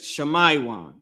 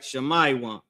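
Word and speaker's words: שמעון: next tribe is the tribe of Simeon the so-called Dominicans in Hebrew that is Shamaywan, right? Shamaywan.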